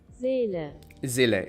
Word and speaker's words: Zille: The German pronunciation. Zille, okay.